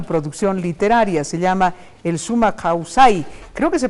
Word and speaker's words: Sumak Kawsay: y de fides televisión El summa causay así se pronuncia Sí en quichua es suma causay significancia tiene en aimara